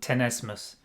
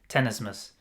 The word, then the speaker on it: tenesmus: learned during my research I believe in my pronunciation I'll probably kill it it's called tenesmus tenesmus t-e-n-e-s-m-u-s um and that's a feeling that you